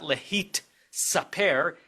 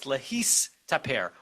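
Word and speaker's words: להסתפר: It's not lehit saper, it's lehistaper.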